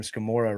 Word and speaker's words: Scamurra: And we joked a long time ago, Hayley, I'm going to bring this one back, that your last name Scamurra rhymes with Gamora.